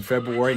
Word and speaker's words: February: You'll notice I pronounce the R in February, never pronounce the T in often, and we have the ugliest public building in the country.